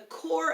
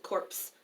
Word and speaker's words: Corps: Corps is a French word, so the P is silent. The Corps of Discovery. Some people do pronounce it Corpse of Discovery, but that